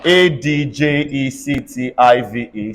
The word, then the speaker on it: adjective: budgets all right in a word like um a d j e c t i v e say adjective in a word like a d